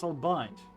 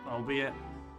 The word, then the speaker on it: albeit: How else pronounce albite as albi? Is that how you pronounce it? I thought always was albide. It's al really need to hear it now from my dictionary. You guys are going to hear it with me. Oh be it. hell it is. There's no different pronunciation to it. There's only one, albeit.